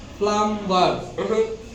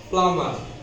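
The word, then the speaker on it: plumber: एम बी ई आर प्लमबर wrong pronounce प्लमबर here L is silent प्लमर प्लमर प्लमर and night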